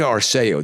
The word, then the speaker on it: Arceo: Today we're at the Palms Casino Resort in Las Vegas, as I just mentioned, with Peter Aro. Did I pronounce that correct?